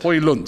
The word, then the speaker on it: Højlund: How do you How do you pronounce this? Højlund. Højlund, isn't it? Højlund, yeah.